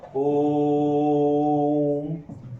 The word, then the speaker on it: ओम: उच्चारण करता है इसका, तो सही उच्चारण इसका ऐसा होता है ओम, लास्ट में म पर जाकर ये स्टॉप करता है।